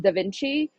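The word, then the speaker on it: DaVinci: It's pronounced Da Vinci.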